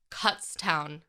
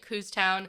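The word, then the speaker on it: Kutztown: of the whole thing cuts Town University like cut really cuts town yeah I was calling it coos town like my assistant Jen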